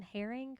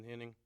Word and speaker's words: Henning: next is um Herring or Henning was that was that terrible pronunciation it's henting but that's close enough gotch okay um so